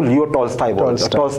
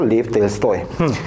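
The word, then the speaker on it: Лев Толстой: क्या बात, इंग्लिश में इनको जब वैसे प्रोनाउंस करते हैं तो इनको लियो टॉल्स्टॉय बोल देते हैं, अदरवाइज इनका नाम था लेव टॉल्स्टॉय।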